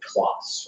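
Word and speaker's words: Clos: In the Midwest, you'd probably just say Kloss, right?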